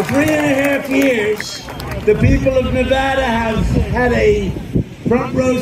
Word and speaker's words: Nevada: Nevada, you know.